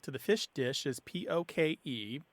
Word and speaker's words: poke: usually comes out as pokey or poke. I have seen it have an accent on the E, but that is incorrect. I think people are being influenced by Pokemon. But poke.